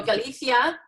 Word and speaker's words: Galicia: far north east area is Galicia is how they pronounce it and in Spain the CI is like a census so Galicia and then go to